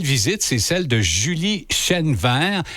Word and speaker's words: Chênevert: D'abord, la belle visite, c'est celle de Julie Chenevert. Est-ce que je prononce bien ton nom de famille? Absolument. Chenevert, qui est directrice des loisirs et de la culture de Saint-Damien.